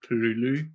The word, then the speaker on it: Cthulhu: Lovecraft described it as you have to put your tongue to the roof of your mouth and it's pronounced like Cthulhu.